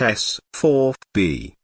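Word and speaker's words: S-IVB: of the double craters the sieve b pronounced s 4 b was the third stage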